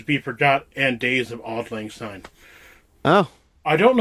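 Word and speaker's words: Auld Lang Syne: All right, let's say sing odd lang. Yeah, oddlings. Is that what the how it's pronounced? Odd lang. Yeah, odd lang.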